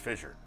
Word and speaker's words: FSSR: pronounced Fissure.